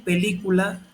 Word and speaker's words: película: Y película tiene acento en la antepenúltima sílaba o penúltima vocal, que en este caso cayó en la I.